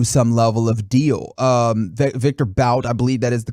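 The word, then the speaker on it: Viktor Bout: try and do some level of deal um victor bout i believe that is the correct pronunciation i can't remember um nick has been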